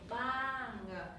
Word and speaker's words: บ้าง: บ้าน with this นะคะ everything the same just the final consonant different Oh, ban. this one เงือก sound at the end บ้าง this Village.